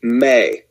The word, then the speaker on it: me: they call them the may tablets the the word is spelled m-e but it's pronounced may and these are thought